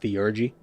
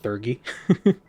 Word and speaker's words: Theurgy: The Thurgy do! Yeah, it's apparently pronounced Theurgy, not Thurgy.